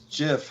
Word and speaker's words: Jif: It's Jif. Oh, The Jif. right answer is Jif. You sure it's not pronounced GIF?